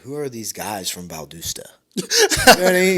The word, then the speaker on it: Valdosta: are these guys from Valdusta?" You know what I mean? You know how people say, "Dude, they say it wrong. Everybody say it's Valdasta, man. It's Valdasta."